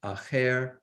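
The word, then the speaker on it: אחר: this use of this word uh alef uh pronounced as acher in a very interesting context and that is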